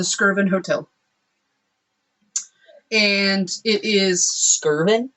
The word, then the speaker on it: Skirvin: Skirvin? I believe it's Skirvin. That's how I pronounce it.